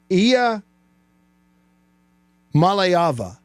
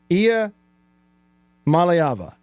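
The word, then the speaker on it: Iamaleava: pronunciation easy for me to say the correct pronunciation save that one for the soundboard is uh IIA malava did I get it IIA malava I malava niiko I malava say it with me niiko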